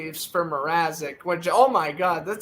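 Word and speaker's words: Mrázek: he said Mrazek wrong. He said Mazarek.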